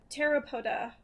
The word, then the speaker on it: Pteropoda: And our last one today is Snow Day with the Scavengers by Pteropoda. Silent P in Parentheses, thank you.